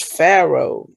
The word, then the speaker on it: Pharaoh: The next word is Pharaoh. It starts with the PH, which has the F sound, which is weird.